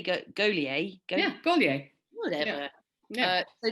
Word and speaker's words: Gaulier: How do you say Gaulier?